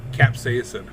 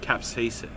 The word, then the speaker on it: capsaicin: do you say that word Casey person perception capsaicin capsaicin yeah okay which is funny it's not only